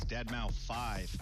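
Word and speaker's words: deadmau5: is your good friend Joel professionally known as dead mouth 5 yes that is the correct way to pronounce it tell your friends we're here to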